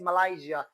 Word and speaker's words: Malaysia: But westerners, native speakers of the English language, they pronounce Malaysia as Malaysia. As they pronounce Asia as Asia.